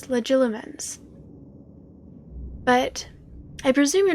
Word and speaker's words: Legilimens: It's not Legimens, right? Because there's extra letters. Legilimens.